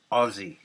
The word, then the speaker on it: Aussie: like just really hard tasteful rock called Ozzy pronounced Ozzy s apparently is an American letter whenever you